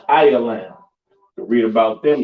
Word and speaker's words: Elam: Which is those so called East Indians, pronounced Ialam.